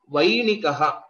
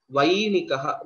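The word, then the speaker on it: वैणिकः: The place of origin is again, we will have to roll back our tongue and pronounce it Vainikaha.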